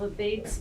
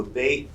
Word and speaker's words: Abate: So the American pronunciation is Abate. And we grew up as Abates. When we got to Worcester Street, people were saying the correct pronunciation is Abate. And there were people that had relatives on the other side who said it's Abate, it's not Abate.